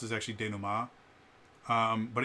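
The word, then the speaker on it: dénouement: goes it's not collaborative storytelling where is the denouement um which that isn't how you pronounce is actually Dana Ma um but it's spell denouement um and what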